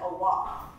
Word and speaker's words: Allah: By the way, it's Quran, Hajj, and Allah.